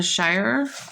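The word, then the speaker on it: Shirer: this wonderful study um on Gideon that Priscilla Shyer is how you say her name Sher um has written and she asked a question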